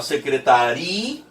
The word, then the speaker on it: secretaria: Então você fala secretaria. Se antes era secretária, com o i bem fraco, agora é secretaria, já que eu não posso colocar as duas vogais na mesma sílaba.